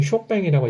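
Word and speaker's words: Chopin: 보니까 그래서 이름도 폴란드시 호빈이라고 안 하고 프랑스식 발음이 쇼팽이라고 얘기를 해주게 되는 겁니다 그렇게 되고 조르주 상대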